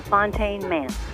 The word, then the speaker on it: Fontaine Manse: ¿Cómo se pronuncia bien el nombre de la casa, de la mansión, Kathleen? The Fontaine Manse.